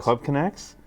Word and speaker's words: Club Conex: for de voto golfer TV with Eric Birch Club connects I get it did I pronounce it right that's correct Club can I hope Club connects thanks for spending your time with us thank